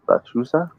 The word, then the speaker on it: Lechuza: Lechuza? Yeah, it's called lechuza. Lechuza. Okay. Yeah. See, I almost got it wrong, but it's cool. It's cool. We good. I ain't get it wrong this time. Lechuza.